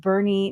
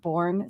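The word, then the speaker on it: Boerne: Fernandez has said that it is pronounced Bernie not borne so it is Bernie Texas so very cool thank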